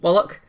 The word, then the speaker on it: Wallach: always Well, feel- this, obviously CH in the English language can be pronounced ch, but it can also be k, and it is that k sound.